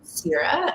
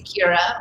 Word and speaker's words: Ceara: So it's Gaelic and okay, 2 syllables. So if I'm in Ireland, they say Ciara, but my parents decided on Ceara, like the Goddess of Grain series, and I was called cereal in kindergarten a lot.